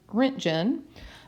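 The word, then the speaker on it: roentgen: that's used is a rent gen and this is spelled okay and it's pronounced like rent and then gin right just like that and this measures high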